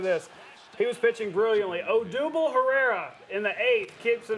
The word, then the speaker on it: Odubel Herrera: Here's his name, pronunciation according to the internet. Odubel Herrera.